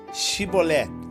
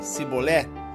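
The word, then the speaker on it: שיבולת: Se declarava: não, lhe ordenava: então dize Shibolé. Se a pessoa dissesse Sibolé, sem conseguir pronunciar corretamente a palavra, prendiam essa pessoa e a matavam no lugar de passagem do Jordão.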